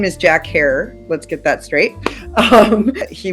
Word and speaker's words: Herer: The first thing about Jack, he would always say, it's Jack Harer. So rhymes with terror. And that's what he would say. So his name is Jack Harer.